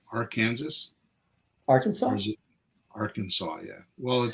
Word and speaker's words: Arkansas: I would love to see prosecuted really and AR Kansas am I saying that right AR Kansas Arkansas Arkansas yeah well it doesn't say Arkansas